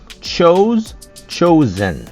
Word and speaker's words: chosen: Et chose, chosen. Le S ici a un son de Z, comme Z. Chosen.